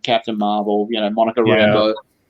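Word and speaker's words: Rambeau: marvel you know monica rainbow uh which i always you know back when i just read in the comics always pronounced as uh monica rambo to separate her from john rambo because when you just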